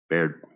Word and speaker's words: Baird: And Bard, you're up first, my friend. Baird. I always say it wrong.